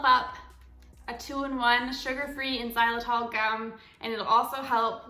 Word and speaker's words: xylitol: good for and that's i think it's a silent x xylitol so x y l i t o l xylitol i feel like